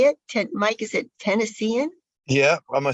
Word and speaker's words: Tennessean: Mike, is it Tennessean? Yeah, I'm a Tennessean by way of New Orleans, New York, and Nova Scotia.